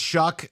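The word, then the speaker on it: Shough: Tyler I thought it was Tyler Shaw, but it's Tyler. It's Shuck, which rhymes with suck.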